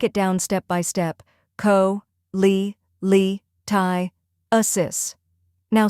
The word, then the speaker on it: cholelithiasis: The correct pronunciation is cholelithiasis. First part, co, like co in cold.